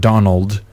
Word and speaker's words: Donal: His name is Donald, not Donald. But Donald. Spelled like Donald without the D, is that right?